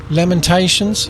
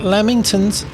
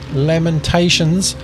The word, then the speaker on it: Lamentations: are the major Prophets The Major Prophets are pronounced Isaiah Jeremiah Lamentations not lamingtons Lamentations Ezekiel Daniel then we come to the Minor